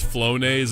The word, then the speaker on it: Flonase: Okay, apparently it's pronounced Flonaze and it's just allergy relief medicine, but honestly, I think cocaine would do the trick, too.